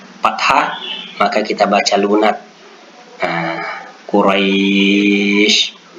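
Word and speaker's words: قريش: Quraisy dibaca menjadi seperti bunyi i, atau khauf kita baca lunak menjadi bunyi seperti u.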